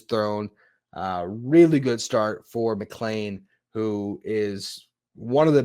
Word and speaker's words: McLean: And then Nolan McLean, I've learned I've been saying that name wrong all this time. It's not McLean like it looks. It's McLean like Die Hard.